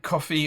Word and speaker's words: Ko-fi: But Ko-fi itself, or coffee, I think it's pronounced coffee, but I call it Ko-fi because of Lofi and things like that.